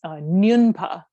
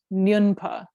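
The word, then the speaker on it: smyon pa: And the term in Tibetan is nyunpa, nyunpa. If you, I don't know, some people like the Tibetan words, but if you wanted to write it down, it's S-M-Y-O-N, it's nyun, pronounced nyunpa.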